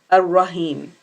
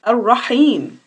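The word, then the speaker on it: الرحيم: That second ha, Ar-Rahim, so often I hear it's being pronounced Ar-Rahim. Nope, the word is Ar-Rahim. It's a ha.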